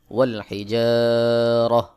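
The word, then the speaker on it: والحجارة: পেশ তু ওয়াল হিজারাতু এখানে গোল তা রয়েছে এখানে আমি ওয়াকফ করবো গোল তায় ওয়াকফ করলে গোল তা হাকিন হয়ে যায় সহি উচ্চারণ হলো ওয়াল হিজারাহ আমজাহ পেশ উ আইন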